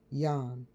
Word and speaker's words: John: Joy, the closet transfest type who was shadowed by his partner John, pronounced Yan.